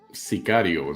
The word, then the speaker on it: Sicario: Sicario is the actual pronunciation before I get yelled at by the Mexican people.